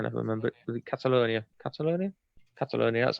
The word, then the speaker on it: Catalonia: Catalonia, that's how you pronounce it.